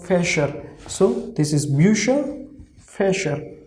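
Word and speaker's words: Fächer: So f, a like fe, sh, r. So fesher.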